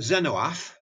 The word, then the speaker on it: Zenith: for game to write well I pronounce it Zen ooph I did a lot